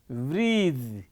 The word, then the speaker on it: breathe: breath e added it becomes a ver form breathe breath is a noun breath you know the pronunciation we say bre breath not breath when